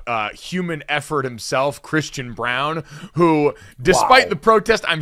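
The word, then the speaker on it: Braun: the broadcast that is pronounced Brown and not Brawn even though it is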